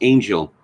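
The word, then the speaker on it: Angyal: A woman called Chloe, it's spelled Anyal, but apparently it's pronounced Angel, has a piece in Marie Claire, The Unbearable, wait for it, Whiteness of Ballet.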